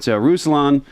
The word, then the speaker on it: Ruslan: And you've got Ruslan. I said it right. I got it right.